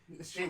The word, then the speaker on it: shea: Say it right. Shea butter. Okay. She No, she I thought it was sheer brother.